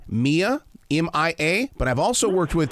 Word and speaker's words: Mia: it off with one thing my granddaughter uh pronounces her name Mia M.I.A but I've also worked with people her name is Maya spelled the same way so how how do